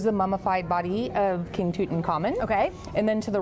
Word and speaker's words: Tutankhamun: Can you pronounce it the correct way for us? Sure, King Tutankhamun. Tutankhamun, I've been practicing that.